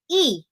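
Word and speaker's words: 이: behind iran is uh my husband's last name is lee l-e-e and in korea it's pronounced as e right so but i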